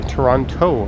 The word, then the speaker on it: Toronto: Misha, I say Toronto, of course. I am clear to pronounce both T's.